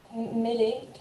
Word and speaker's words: Mellet: I'm not quite sure how your last name is pronounced. Is it Mellet or Malay? Mellet, can you hear Millet? me? Yeah, Mellet.